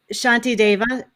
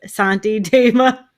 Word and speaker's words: Shantideva: it i said uh santi dama yeah you know they have the the s with the little accent over it is a sha sound apparently right that's how